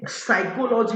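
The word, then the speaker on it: psychology: है भाई ठीक है पी लेटर क्या है साइलेंट है तो उसको हम पढ़ते है टेरोस ठीक है चलिए जैसे साइकोलॉजी लिखा रहता है तो साइकोलॉजी तो ए से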